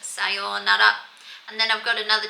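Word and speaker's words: さようなら: It is pronounced sayonara.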